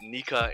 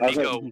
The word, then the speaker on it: Nika: it probably says um pronounced nika in japanese the only time we heard nico was from who's who right so sun god